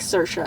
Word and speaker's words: Saoirse: does they're always saying hey how do you pronounce her name and she's like sir sure like stop asking her how to pronounce her